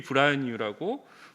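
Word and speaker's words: Braille: 제가 항상 소개를 하는데 루이 브라뉴라고 브라뉴 발음이 좀 쉽진 않아요. 프랑스 사람입니다. 그래서 이분이 현재 쓰고 있는 점자를 처음 만들었고, 여기 보시면 루이스 이게 영어로 읽으면은 브레일이에요.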